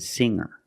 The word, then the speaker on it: singer: There's no g sound. I cannot say hanger. I cannot say singer. It's hanger and singer.